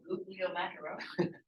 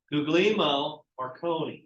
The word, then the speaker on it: Guglielmo Marconi: How do you pronounce it, Wyatt? Oh, Guglielmo Macaroni. Guglielmo Marconi.